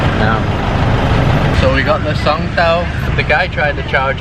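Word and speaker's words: songthaew: And that public transport, I didn't know the name the other day, but I think it's called Songtao. I think that's how you pronounce it here.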